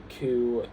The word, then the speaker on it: queue: Um and the the um vestigial letters in these words were pronounced in French all the way up to right before they were borrowed into English and then they just weren't once um once the English started pronouncing it like using those words. And they are chateau, corps, queue, and debris.